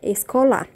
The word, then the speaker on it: escolar: curta ele tá bom escolar é igualzinho do português mas a pronúncia é lógico que muda tá sabemos que o l do português tem som de u mas não espanhol não tem isso é somente l&l por